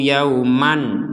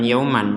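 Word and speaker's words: يَوْمًا: membacanya dengan jelas wattaqu yauman La yauman La kalau kita ingin berhenti di sini tidak apa-apa Tapi bacanya bukan yauman tapi Yauma wattaqu Yauma misalkan enggak kuat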